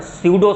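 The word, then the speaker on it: pseudo: का मतलब होता है, ये स्यूडो होता है, यहाँ पी साइलेंट है, स्यूडो वर्ड का मतलब होता है फॉल्स।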